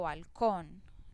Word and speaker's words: balcón: Lo mismo si yo digo balcón, la sílaba que pronuncio más fuerte es con, y mire que tiene la tilde.